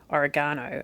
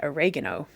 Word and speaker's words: oregano: Like, we say oregano and they say oregano and it's just a different emphasis.